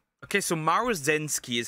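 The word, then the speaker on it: Maruzensky: Okay, so Maru Zenski is how you pronounce her name cuz I struggled when I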